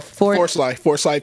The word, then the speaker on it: Forsyth: it's a man-made lake in the, I think, Forsyth, Georgia area. Forsyth, am I saying it right, Bubba? Forsyth County.